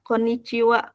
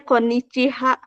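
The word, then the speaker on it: こんにちは: adalah penulisan hiragana koniciwa Jadi kalau untuk pelafalannya ko n ni Ci WA wnya itu dari ha gitu Kenapa sens pakai ha ya ini rulesnya kita enggak bisa gimana-gimana gitu konwa tulisannya koniciha ciha gitu ada h-nya Tapi bacanya Wa gitu boleh k Kanada di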